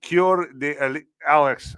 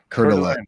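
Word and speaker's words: Coeur d'Alene: Cure de Alex, how do you say that word? Cur ald curden. Kurden.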